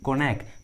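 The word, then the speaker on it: cognac: देखिए तीनों English words में जी का आवाज़ नहीं आ रहा है, साइन, फोरेन, कोनैक, देखिए सभी इंग्लिश वर्ड्स में जी का आवाज़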